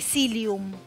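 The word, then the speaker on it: psyllium: utilizar y recuerde que el cilium es como el psicólogo lleva una p adelante que no la pronuncias pum se escribe pilum y otra cosa Recuerden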